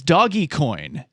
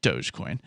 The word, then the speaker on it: Dogecoin: What is Doggy Coin? He asked. Woof. Which is Dogecoin. But he mispronounced it, I guess.